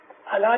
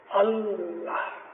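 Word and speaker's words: الله: अलिफ लाम लाम लाम है, अल्लाह, अल्लाह नहीं, अल्लाह। हम जब अपनी दुआ पढ़ते हैं ना तो उसके हमें ये प्रोनाउंसिएशन सीखनी चाहिए।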